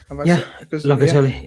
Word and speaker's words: Locatelli: Is that how you pronounce his name, Avi? Locatelli.